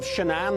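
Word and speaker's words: Shanann: daughters in Colorado Chris Waltz the husband of shanan that's how you pronounce it has been placed into custody and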